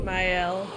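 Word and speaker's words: Maelle: Ma Her name sure it's Myel. It's like closer to Myel. Like not like my but May like the season.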